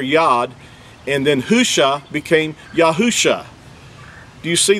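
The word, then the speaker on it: Hoshea: an accurate transliteration uh the actual word is husha it's spelled you know it's spelled uh ha with the letter he or ha UA or o and then the shin and the Ain it's spelled with four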